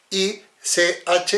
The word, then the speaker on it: ich: Para que funcione como CH, tiene que tener una S, si no, es como una J. Bueno, por ejemplo, ich se escribe ich, I-C-H, y se pronuncia ich.